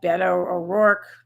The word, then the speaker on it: Beto O'Rourke: another potential as yet undeclared candidate b uh beto o'rourke is how you say his name the former